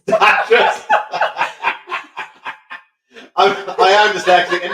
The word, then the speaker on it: Datrys: Dillis? No, not Dillis. That's my camp van. Datress. Datress.